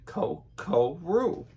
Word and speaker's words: KoKoRo: So the roux is actually first, but if you look below it, it says you should pronounce it KoKoRo.